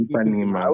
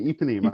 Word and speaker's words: Ipanema: The girl from Ipanema is, I never know how to pronounce that correctly, and I always, Ipanema. Ipanema, Mhm. yeah. I Ipanema. was close. Okay, Ipanema.